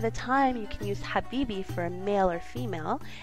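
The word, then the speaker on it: حبيبي: you've definitely heard before Habibi so to ly pronounce this word you need to make a very hard H sound like like you have eaten something really spicy so it's Habi which means my love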